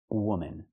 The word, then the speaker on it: woman: And the last one is this, woman. You have one woman. Use the uh sound like good and book. W-w. Woman. The second syllable is relaxed and closed.